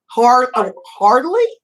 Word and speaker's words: Harley: Harley? Wait, what's her name? Harley. It sounds like a motorcycle, but it's not spelled the same.